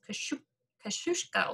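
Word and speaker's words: Kosciusko: I've been told that's pronounced Kosciuszko, if I could say it.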